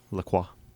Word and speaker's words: La Croix: I have the pineapple strawberry La Croix. Mhm. Delicious. I sampled one earlier. I pronounced it delicious.